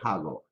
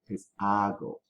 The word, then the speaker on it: hago: what do i do remember the letter h is silent so don't say hago ago okay what do i